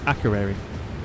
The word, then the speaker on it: Akureyri: Right, I want to know how you pronounce it. Who? Who? Who? Who? I still don't. Akureyri. That one. Akureyri.